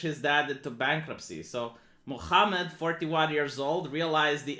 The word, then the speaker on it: Muhammad: it say like that muhammad it's that i had like friends at the university of madison that's how they pronounced it's it's like from the third larynx it's like muhammad seven years old did